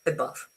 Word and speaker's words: above: Uh if I say above above, you see it's not a it's not a, it's above. No stress.